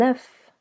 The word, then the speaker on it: œuf: Un œuf. An egg. You can hear we link this preposition to the next word. Un œuf. Also, the phonetic O, E, U sounds œuf, as if letter O was silent.